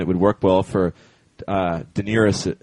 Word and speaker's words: Daenerys: Oh, no, I think it's Daenerys. That's how George says it.